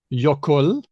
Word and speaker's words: jökull: There's Icelandic jökull. Oh, hang on. Hedvig as the Icelandic adjacent person. Jökull. Actually, I can pronounce it.